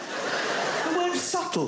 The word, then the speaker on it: subtle: Subtle. Would anybody object if it was spelled S-U-T-L-E? Not a single person would.